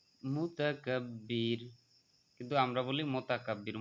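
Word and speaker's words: مُتَكَبِّر: আজিজুল জাব্বারুল, জাব্বা একালিফ টানতে হবে, জাব্বারুল মুতাকাব্বির, মুতাকাব্বির, কিন্তু আমরা বলি মোতাকাব্বির, মোতা নয়, মুতা বলতে হবে, কারণ আপনার পেশে উকার পড়তে হবে, আরো সুকার পড়তে হয়।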